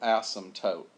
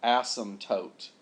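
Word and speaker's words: asymptote: there but anyhow whatever the p is silent so look here if you say this word it's in your next class it's called Asm toote not ASM all right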